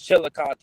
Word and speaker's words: Chillicothe: it is it chili coth or chile it's chillicothe chillicothe gotcha chillicothe i mean it looks like they have some